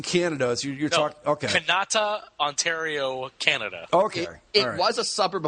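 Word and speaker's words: Kanata: canata you're not you're not do not just mispronouncing Canada you're talk okay canata Ontario Canada okay was suburb of Ottawa now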